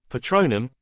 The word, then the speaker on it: Patronum: The pronunciation had seemed a bit off. Patronum, Lily corrected tiredly.